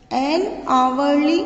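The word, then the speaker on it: hourly: का यूज किया है, क्योंकि जो आवर है इसकी प्रोनाउंसिएशन आवर्स होती है, ओ की साउंड आती है आवरली।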